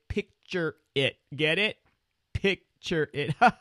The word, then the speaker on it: Pixrit: to say it but apparently you say it picture it get it picture it